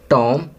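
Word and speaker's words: tomb: Seventh, टॉम, B silent है।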